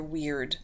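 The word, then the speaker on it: wyrd: you come in with some people would say it's your weird and it's spelled w-y-r-d orlog is o-r-l-o-g and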